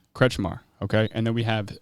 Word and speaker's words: Kretzschmar: We have Jan Kretzschmar. Is that how it's pronounced? It is not. How do I pronounce it? Jan Kretzschmar. Kretzschmar, okay.